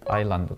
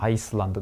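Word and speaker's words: island: ますねでま発音がねとっても重要ですこアイランドですねアイスランドではありませんのでアイランドという風に読むんですがこれそうラン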